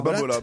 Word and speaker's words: Babolat: Non, c'est Babolat.